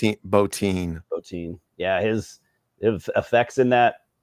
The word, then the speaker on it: Bottin: It also man, I didn't realize how much Rob is it Bottin or Botin or how do you pronounce it? Bottin.